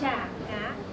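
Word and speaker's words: Chả cá: How would you pronounce Cha Ca, Mai? It's Cha Ca.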